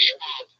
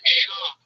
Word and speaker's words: Schwab: He's doing the podcast with Brendan Schwab. Schwab. Don't say Schwab. Am I saying it wrong? Yes, it's Brendan Schwab.